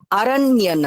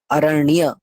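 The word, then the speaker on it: अरण्य: আরণ্য নগরী, আরণ্য নগরী। আপনি কোন সাউথ ইন্ডিয়ান, কোন নর্থ ইন্ডিয়ানের সংস্কৃত শুনবেন, তারা উচ্চারণ করবে আরণ্য নগরী। ঠিক আছে, আরণ্য নগরী, মূর্ধন্য নয়, স্পষ্ট উচ্চারণ হবে অরণ্য, অরণ্য নগরী।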